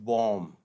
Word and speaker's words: bomb: Silent letters बहुत सारे हैं, जैसे BOMB में, BOMB में क्या साइलेंट है, B साइलेंट है। तो जब भी MB के कॉम्बिनेशन में B साइलेंट होता है, तो ये इसका प्रोनाउंसिएशन BOMB कैसे बोलेंगे हम, this is pronounced as बॉम्ब, ऐसे करके।